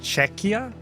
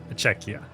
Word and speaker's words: Czechia: Oh, it's pronounced Czechia? Czechia.